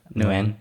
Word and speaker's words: Nguyen: So it's like Nguyen? Yeah, it's like yeah, when. Nguyen.